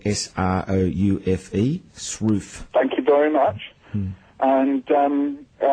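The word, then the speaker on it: Sroufe: you go online and put in the word Shruth with McIntosh and Bowlby... That's spelled I'll just so if you want to look that up, it's spelled S-R-O-U-F-E, Shruth.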